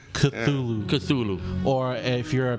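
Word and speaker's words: Cthulhu: it cthulu cthulu oh okay it's weird spell it's spelled weird it's cthulu cthulu or if you're a Metallica fan culu culu so reanimator and from Beyond I recommend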